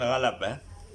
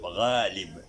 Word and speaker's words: Ghalib: Bukan Ghalab Bukan Ghalab, bukan Ghalub, Ghalib.